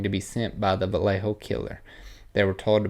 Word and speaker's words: Vallejo: you say that word wait valleyho valo valj Vallejo California so this couple shot and killed in Vallejo California July 4th 1969 Darlene Elizabeth Fen and